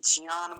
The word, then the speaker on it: ज्ञान: गिना जा सकता है जो जन नहीं बोलेंगे ज्ञान नहीं बोलेंगे नहीं तो यहां का व्यवहार अलग और वहां तो अपने ही लोगों का एकदम जो अपने लोग हैं जो उच्चारण को लेकर बड़े सतर्क रहते हैं व भी ज्यादातर ज्ञान ही बोलेंगे ज ही बोलते हैं इसको इसलिए आप लोगों से भी एक निवेदन है कि आप जन बोलिए जनी बोलिए ज बोलिए